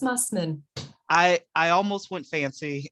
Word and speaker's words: Mussman: okay there we go people like to make it fancy and go old german with the moosemen but it's just mussmen i i almost went